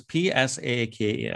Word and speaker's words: Psaki: Actually, did you know that her name is Psaki? Oh, I didn't know that. It's like Psalm.